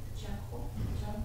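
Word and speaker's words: चक्षु: Сакху, Чакху, да, дело, Джей. Чакху, вот это произносим чакху, питание, надо, смешиву. В общем, в англотеране мы произносим чакху.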